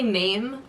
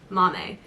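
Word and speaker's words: Maame: so this is oh it literally tells you it's pronounced Mommy it means woman it's fair to say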